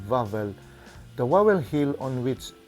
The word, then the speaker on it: Wawel: from Wikipedia the vowel royal castle police pronunciation vavel the vowel hill on which it sits constitute